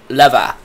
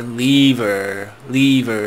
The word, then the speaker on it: lever: But I guess it's actually, I've tried to pronounce it correctly before, lever, like the British, they properly pronounce it, lever.